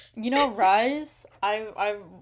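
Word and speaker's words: Rhys: You know, Rise. I I I was not pronouncing it Rise the entire time.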